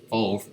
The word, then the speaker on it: pho: Pho, pronounced pho.